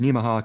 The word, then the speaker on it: Nemaha: area here called the Nemaha Ridge, and I looked that up. They say it's pronounced Nemaha, kind of like Omaha.